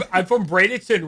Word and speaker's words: Bradenton: Well, it's like I'm from Bradenton, right?